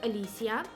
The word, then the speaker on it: Alicia: like my name is Alicia phonetically pronouncing my name would be like early see ah let's see ah the singer see ah yeah it's pretty simple